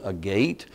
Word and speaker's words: agate: of stripes or layers it is called a gate or an agate I think it's a proper pronunciation a-g-a-a-t-e uh if it's if the stripes